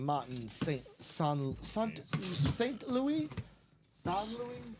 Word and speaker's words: St. Louis: Louis San Louie. I think it's St. Louis. Sometimes with those French names, they have a different pronunciation, but Martin St.